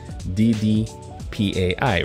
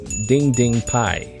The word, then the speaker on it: DDPAI: this if you're driving it's supposedly dd pai right but it's actually pronounced as ding ding pi so this is the